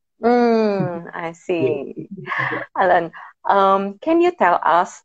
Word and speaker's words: Alen: ellen uh how i pronounce your name alain yes allen of not available in the english so it's with the c but it's pronounced i see alan um can you tell us that some friends